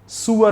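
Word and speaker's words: sewer: सर तो बोलते नहीं, वो तो बोलते हैं सीवर ही होता है, तो माफी ऑक्सफोर्ड से चेक कर लीजिए। इसका प्रोनाउंसिएशन सुअर होता है।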